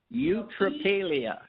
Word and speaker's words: eutrapelia: Let's spell it. EUT. Yes. RAPALIA. Eutrapelia.